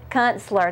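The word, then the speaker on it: Künstler: know how to say his last name Consular Consular that's right and he is a renowned uh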